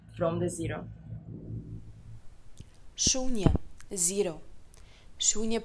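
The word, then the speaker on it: शून्य: Shunya pronouncing with the long U.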